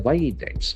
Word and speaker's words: widen: Gap widens. What happens to the deficit? In WIDEN, it widens. It gets widened. widen, So the I sound is very prominent.